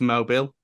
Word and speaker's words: Mobil: Mobile spelt the same way, but Mobile 1 was a oil thing that they used to have in F1. Yeah, and that was always pronounced Mobile.